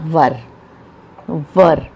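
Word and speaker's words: were: तो नेक्स्ट आ जाता है हमारा वर। इसको वेयर नहीं बोला जाता, इसका प्रोनाउंसिएशन है वर।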